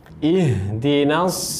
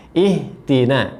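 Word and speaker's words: اهدنا: Jadi perhatikan pengucapan huruf ha ketika sukun, ya, ketika mati. Maka tunaikan dengan benar, baca dengan benar agar tidak tertukar dengan huruf ha seperti ihti, ya. Ihtina, karena haknya kurang sempurna.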